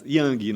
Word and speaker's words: Yang: E é ele, o convidado, Ian. Tudo bem contigo? Tudo bom, Pronunciei certo, Yang? Yang, na verdade.